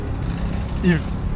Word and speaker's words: Yves: Yves. Y yok mesela başında.